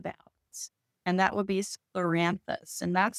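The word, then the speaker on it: scleranthus: And that would be sclloranthus. And that's spelled s c l e r a n t h u s.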